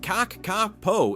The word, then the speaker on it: kakapo: Native to New Zealand, the cacapo, pronounced caako, is the world's heaviest parrot, weighing up to 9 lbs.